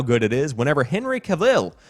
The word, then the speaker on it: Cavill: it is whenever Henry Cavill which I learned last night is actually Cavill did you know that Henry Cavill is actually how you pronounce it according to my friend